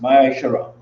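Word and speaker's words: מעשר: and malachi 3 8-10 means 10 in hebrew and is pronounced maya shara 10 of any penny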